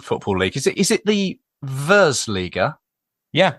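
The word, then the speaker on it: Virslīga: Is it the Versliga? Yeah, it's really called. You pronounce it in the really, really good way. It's Virsliga.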